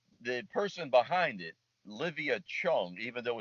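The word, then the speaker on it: Zhang: for now now the person behind it Livia Chong even though it's spelled z h NG it's pronounced Chong a dear friend I met her at the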